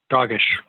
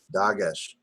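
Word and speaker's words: דגש: Doggish. Dagesh, again.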